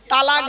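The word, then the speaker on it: طلاق: আরে ভাই বলুন না শব্দটা কিন্তু তালাক নয় শব্দটা তালাক বলবেন না কেউ শব্দটা হল তলাক কি বললাম তলা ওর আরবি উচ্চারণ কি ক বাংলা উচ্চারণ কি তলাক মানে পৃথক দেওয়া ছেড়ে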